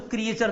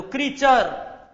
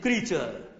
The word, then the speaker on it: creature: Little और क्रीचर, CREATURE, इसका उच्चारण बच्चों क्रिएचर नहीं होता, ध्यान दो, क्रीचर, नॉट क्रिएचर। The correct pronunciation is क्रीचर।